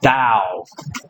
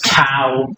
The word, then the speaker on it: Tao: We'll sometimes also see it written as Tao, the Wade Giles writing system. But nowadays, they've changed that. It should really be pronounced like a D, Tao, or Tao.